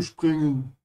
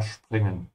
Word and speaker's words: springen: Remember to pronounce the S like sh because it comes before a P. Ja, springen.